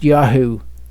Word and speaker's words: Yahu: The Yahoo, the Yud Vav rather, is at the end, so it is pronounced Yahu.